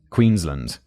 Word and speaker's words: Queensland: David specifies land, not Lund. Queensland.